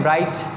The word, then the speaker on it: bright: जैसे कि हम लिखते हैं ब्राइट, BRIGHT, लेकिन यहाँ पे GH आ तो रहा है लेकिन उसका साउंड प्रोड्यूस नहीं हो रहा।